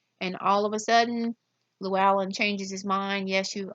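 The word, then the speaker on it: Llywelyn: this it looks like its Llewellyn but is pronounced Llewellyn there is a Welsh Prince Llewellyn who decides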